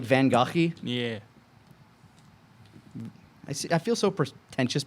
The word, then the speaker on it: Van Gogh: Yeah, Yeah, I was No, gonna but say, no, Van Gogh is the correct way to say it.